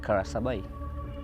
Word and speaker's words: Karasabai: district commissioner in those days in early 60s pronounced the word kara sabai and since then the this spelling left like